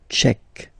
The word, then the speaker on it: tchèque: So remember, Q-U-E, k, tchèque.